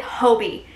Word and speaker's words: Hobbii: sound like an idiot the majority of people that I saw in that video pronounced it Hobie and I think those